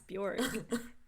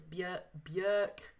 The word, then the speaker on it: Björk: Although I apparently am saying it wrong. Apparently it's Björk. Oh, I guess that makes sense. With that sound instead of a. There's an umlaut, isn't there? That's over true. Her, so like, Björk.